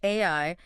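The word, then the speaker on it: 愛: He even points out that the Japanese kanji for the word love which is pronounced ai is traditionally drawn using exactly 13 strokes.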